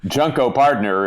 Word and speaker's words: Junko Partner: talk about okay so junko partner is pronounced that way because it's junk oh yeah it's about